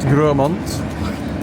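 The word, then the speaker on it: Grosmont: This is Gromont. Spelled Gmont, but pronounced Gromont.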